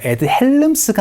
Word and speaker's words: Ed Helms: Ed Helms가 아니고 L 발음을 하지 않기 때문에 Ed Helms라고 발음을 해주셔야 되는데요.